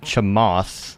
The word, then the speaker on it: Chamath: And there is, I believe his name is pronounced Chamath, Chamath. Looks like Che Math.